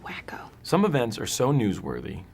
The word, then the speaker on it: Waco: What if it's another Waco? It's pronounced wacko.